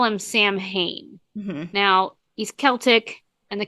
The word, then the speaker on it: Samhain: I've only heard Samhain. Samhain. Oh, yeah. I hate to say it, but like Google pronounce. When you do the robot lady. Yep, it's Samhain.